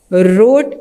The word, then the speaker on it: wrote: बाद Aafia and Hasan wrote a letter, write की second form wrote, W silent है।